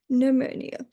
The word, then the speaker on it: pneumonia: with a P, but the P is not pronounced and it's what we call a silent P. We don't pronounce the P and that's why it's pneumonia.